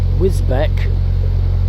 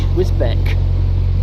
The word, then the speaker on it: Wisbech: In Wisbech. Oh, it's Wisbech, yeah, but it's spelt with a B-E-C-H. Wisbech. Betch. I call it Wisbech.